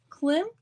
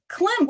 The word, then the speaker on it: Klimt: Klim?